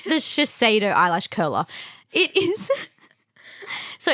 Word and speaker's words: Shiseido: Shidasado. No, it's Shiseido. Shidasado is... Oh, okay, it's just spelled wrong. I just use it. Okay. You bought it. I didn't buy It's the Shiseido eyelash curler.